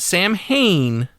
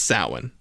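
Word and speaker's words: Samhain: want okay let's clear the air now it's pronounced sa not Sam Hayne it's named after a Gaelic Festival that Halloween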